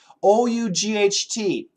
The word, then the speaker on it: ought: movies yes they do o u ght a standard American pronunciation with an aw ought you ought to